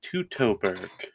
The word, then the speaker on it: Teutoburg: Also, according to Dake, it is Teutoburg.